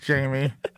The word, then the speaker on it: Jaime: His name is Jamie. I think I just convinced myself he was. What exactly did he text back? He goes, I'm not Spanish, J-me. J, not pronounced like an H, crying face emojis.